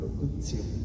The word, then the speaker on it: locutio: Y locutio es locutio, pero como es latín, la T se pronuncia como TZ, ¿no? Como locutio.